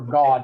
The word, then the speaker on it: Gad: Okay, and then over here we're going to have Right to left, you have Reuben, Simeon, and Gad. Or God, it actually is the way we would pronounce that.